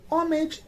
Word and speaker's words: homage: it is pronounced and in homage it is not and in honey it